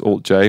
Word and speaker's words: alt-J: so we called ourselves alt j we called ourselves we were like we're going to call ourselves our band name will be the symbol but you'll pronounce it alt j and that didn't really